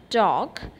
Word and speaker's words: talk: column worry work wonderful look at the word talk here l is silent isn't it in the word talk d a l k